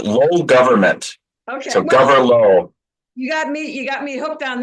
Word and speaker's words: Gawyrlow: It's Gawyrlow. Think low government. Okay, So well, Gawyrlow.